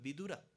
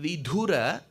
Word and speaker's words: Vidura: while you pronounce words if you stress on the da making it vidhura the meaning will change because in samskritam means widower vidura means Vice so the conversation that lasted between drashtra and vidura is called viduraniti that